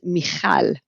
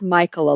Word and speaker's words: Michal: Well, my real name is Michal, which is Hebrew, and most people can't pronounce it. And actually, I've heard Michael a lot.